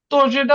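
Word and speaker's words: тоже: তো এখানে আমাদের আজকে কনসেপ্টটা শেখার বিষয় কি তোজে, তোজেটা হইলো নতুন, এটার উচ্চারণ হবে তোজে, তোজে।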